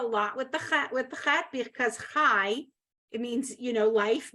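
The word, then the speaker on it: חי: Ha, Chaim, L'chaim, Torah, Torach, No, that would be Torat. Mm-hmm. Chaim, El, Ha, Chai, Chai. right? You're gonna Oh. pronounce the yud there, chai.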